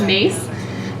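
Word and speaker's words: Myss: is um has everybody here heard of Carolyn mace yeah yeah okay um well for those of you that haven't Carolyn mace her the spelling of her last name is m y SS but it's pronounced mace and she's kind of the person that coined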